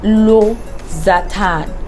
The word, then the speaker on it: losartan: Then we have losartan. Some people come and say lexotan. Some people call losartan different names. It's losartan.